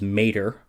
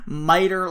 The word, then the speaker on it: mater: who studied classical Latin to hear them pronounce the word mater, mother, as mater. It's a fucking Cars character voiced by Larry the Cable Guy. But, modern / ecclesiastical Latin, sure, that's probably how it's said.